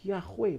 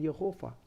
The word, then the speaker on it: Yahweh: Harusnya adalah Yahweh, bukan Yehova.